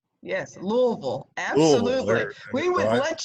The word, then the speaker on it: Louisville: Yes, Louisville.